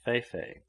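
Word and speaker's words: fe-fe: Feifei he had, which is the native for elephantiasis, and which is pronounced Feifei.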